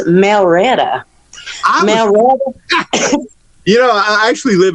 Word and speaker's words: Marietta: one day she says you say your name wrong darling i said what do you mean she says it's not marietta it's melretta you know i actually